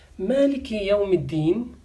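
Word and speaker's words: مالك يوم الدين: So dal has shadda and kasra, deen. Ya has sukoon, Maliki Yawmi Deeni. This is how we pronounce and read this ayah in Quran. Maliki Yawmiddin.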